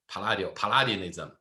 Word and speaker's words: Palladianism: Palladianism. Very good. That's also my observation. I think the closest examples we covered so far is Palladio, right? Palladianism. So there's a strong sense of Palladianism, the symmetry.